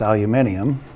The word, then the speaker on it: aluminium: Aluminum or correctly pronounced aluminium. Well, us Yanks have messed that word up.